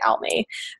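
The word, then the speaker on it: Aimee: and then almay darling which she spells her name like it's amy it's a-i-m-e-e darling but she pronounces it out me um and they all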